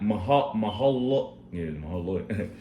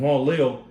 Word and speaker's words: Mahalalel: And Canaan lived 70 years and begot Mahalalel. pretty much Mahalalel. Mahalalel. Mahalal. Yeah, I can't pronounce that. So Salaki. it's like Ma, then you say halal, Mahalal. Yeah. and Al.